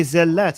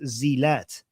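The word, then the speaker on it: zellat: Zelat. I know. I know. Zelat. Okay. But the way you wrote it, it says it pronounced zat.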